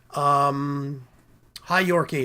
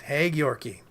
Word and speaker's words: Hey Yorkie: Hi Yorkie. It's not Hi Yorkie. It's Hey Yorkie.